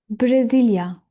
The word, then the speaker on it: Brezilya: And the last country for this A1 level and for this lesson also, Brasilia, Brazil, Brasilia. Like I'm saying syllable to syllable.